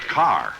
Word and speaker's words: Kerr: isn't it yes but in England it's pronounced car oh just like here